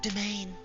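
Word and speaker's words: demesne: All right. It's pronounced domain.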